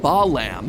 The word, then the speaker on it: Balaam: All three of them, Bael, Pie Man, and Ba-Lam, are phonetic ways of pronouncing the names Bael, Paimon, and Balaam, three king demons from the Ars Goetia.